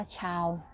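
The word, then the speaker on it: tchau: ก่อน ชาว นะ คะ T C H A U ชาว อ่าน ว่า ชาว แปล ว่า ลา ก่อน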